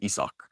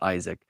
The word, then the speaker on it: Isak: name is uh isak technically it's Afrikaans we say isak not Isaac but it would be Isaac if it was englishly pronounced so isak you know